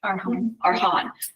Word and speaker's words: Arhan: Our hands, am I pronouncing that correctly? Arhan.